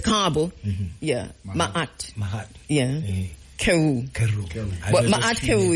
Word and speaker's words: Ma'at: Yeah, Ma'at.